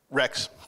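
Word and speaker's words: Racz: under the tutelage of dr. Gabor raise that pronounced that correct Rex Thank You dr. Gabor Rex one of the most accomplished and respected interventional pain management physicians in the world dr.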